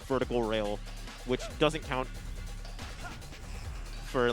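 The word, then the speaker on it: Faux: Fo's being very mean. His name's Fo, but it's spelled F-A-U-X because he's like bourgeois or whatever.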